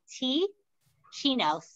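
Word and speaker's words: Teeccino: Yeah, it's spelled T-E-E, like teeing off in golf, T-Chino, C-I-N-O, T-E-E-C-I-N-O.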